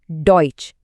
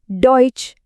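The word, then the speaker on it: Deutsch: डॉइच यहां इ यू की आवाज ओए है। तो ये क्या बन गया? डॉइच।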